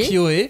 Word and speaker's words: ukiyo-e: C'est comme ça qu'on le prononce, oui. Ukiyo-e.